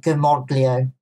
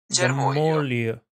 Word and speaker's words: germoglio: I'm going to, well, I pronounce it Germoglio. Italians pronounce it very differently. Would you like me what to I found? I actually have it on my phone. There you go. Germoglio. Yeah. Germoglio.